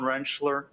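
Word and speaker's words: Rentschler: Could you please state your name for the record and spell it? Dr. Wrenchler.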